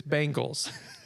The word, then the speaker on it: Bengals: old is how old I was when I learned it's Bengals.